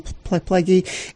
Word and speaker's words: Plagge: Pleggy is spelled Plagge, but, again, that's a cooperative effort